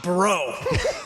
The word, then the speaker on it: Breaux: They had to be on the board like, please let bro have follow us. Stay Let here, bro drop to Josh. us. But it's spelled Breaux.